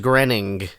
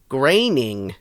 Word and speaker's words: Groening: groan groaning granite grunting it's G ro e ni ng I think it's pronounced grinning we should have him pronounce it for us Wikipedia we'll ask the guys over at pods in the key of Springfield I'm sure they know oh wait wait graining yes yeah I thought it was